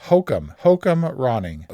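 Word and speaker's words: Joachim Rønning: His name is pronounced Hokum Ronning, who directed Pirates, Dead Men Tell No Tales,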